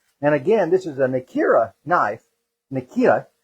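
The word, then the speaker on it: Nakiri: And again, this is a Nikita knife. Nikita. They call it the T, the R is pronounced like a T.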